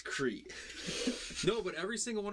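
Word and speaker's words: Crait: Because I used to always say crate wrong. No, I just said it wrong. Every time you would say crate, I'm like, I'm pretty sure it's Crete.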